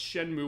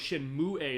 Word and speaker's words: Shenmue: I heard what's Shenmue, or I thought it was Shenmue as far as the pronunciation of Japanese. It's like, I didn't know the E was silent at the end of this.